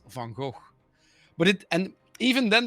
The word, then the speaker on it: van Gogh: uh van gogh and everyone said fango and then stephen fry said no it's van gogh but it and even